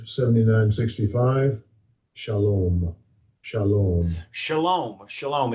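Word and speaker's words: שלום: Shalom. Shalom. Shalom. Shalom. It's spelled S-A-L-O-M, but in the Hebrew, it is pronounced shalom.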